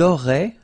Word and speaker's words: auraient: auriez, and then ils auraient, little link, but then look, A-I-E-N-T like that, and you only pronounce E, like we had here. It will be exactly the same pronunciation here.